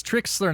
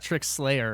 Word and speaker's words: Trikslyr: T R I K S L Y R. Yes, I know it's spelled weird. And uh that's where you can find me. It's Tricksler, not Trick Slayer, right?